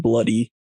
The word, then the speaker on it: Bluidy: nickname Bloody Mackenzie, which the Scottish spelling is Bluidy, but it's just pronounced Bloody Mackenzie.